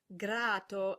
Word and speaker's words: grato: So grato and gratto are actually different words with different meanings. Notice that the vowel before the T is longer in grato than in gratto as well, so the